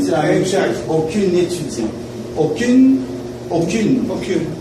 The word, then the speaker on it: aucune: Aucune étudiant. Aucune. Aucune. Aucune. La prononciation c'est aucune. Là, ça, ok?